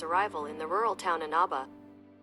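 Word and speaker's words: Inaba: the main character's arrival in the rural Town anaba anaba that's how you pronounce it they've been pronouncing it wrong all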